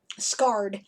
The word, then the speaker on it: Skard: Scarred. It's spelled Skard in my name generator, but of course, everyone hearing that is going to instantly think of, scars on the face or something, right? So, Right.